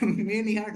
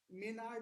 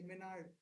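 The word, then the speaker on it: Maynard: अरे मेन मेन यार्ड नहीं था यार, मैं खुद अभी कंफ्यूज हो, मैं वही लिख रहा था। मेनार्ड है ये, मेनार्ड। हाँ, लिखते हैं वो मेन यार्ड लिखते हैं, लेकिन इसको ना प्रोनाउंस होता है जॉन मेनार्ड किन्स के नाम से, ठीक है।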